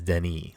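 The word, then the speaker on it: Denis: it's technically I think his first name is Denny like you don't pronounce the S yeah it is villanue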